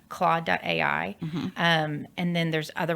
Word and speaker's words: Claude: heard a lot about how do you spell that c l a u d e okay claw.